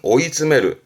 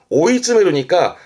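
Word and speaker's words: 追い詰める: 앞에가 추자 추격인데 발음은 오이즈메르 오이즈메르니까 쫓아가 담는 거죠.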